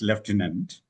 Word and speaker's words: lieutenant: The way it is pronounced is leftant.